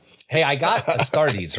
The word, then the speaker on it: Astartes: Hey, I got Astartes right for once. You did get Astartes. He's all Astratus. Astrates.